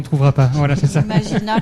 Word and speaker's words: Imagina: Imagina, comme ça se prononce.